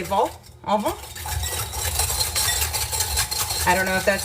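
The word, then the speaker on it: vol-au-vent: And then also, they don't pronounce the last consonant in words unless it's the same consonant that's in the word careful. So C, R, F, and L, they do pronounce it at the end. So that's why we say vol au vent.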